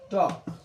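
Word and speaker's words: talk: এ এল আরো এল চইছু এটু হল ট টক এটু হল টক আর এটা হল মিল্ক টক মিল্ক এর এল উচ্চারণ হইছে এর এন উচ্চারণ কারণ কি এটা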